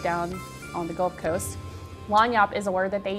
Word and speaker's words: Lagniappe: this video is called Lagniappe. And it's kind of a funny word. L-A-W-N-Y-O-P. It's spelled like this, which is kind of crazy, yeah.